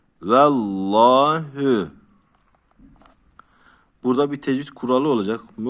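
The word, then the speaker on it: وَاللَّهُ: a sesi ile okunur Allah isminden önceki harf esreli olursa Allah ismi e sesiyle okunur kuraldır bunu ezberleyelim vah Asar var uzatıyorum hü vallahü burada bir tecvit kuralı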